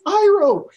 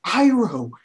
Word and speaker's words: Iroh: His name is Iroh. They say his name in the show all the time. It's Uncle Iroh, not Uncle Eero, not Uncle whatever the fuck they said. It was Uncle Iroh.